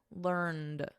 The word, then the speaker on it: learned: In American English, which I teach, the preferred spelling and pronunciation is learned. So notice we have a soft T here, learnt. And then in American, learned with a soft D, learned.